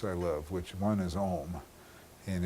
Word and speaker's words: Om: There's two mantras I love, which one is Om, and if it's pronounced correctly, it's you know, A-U-M, and it vibrates your heart, by the way, if it's pronounced correctly.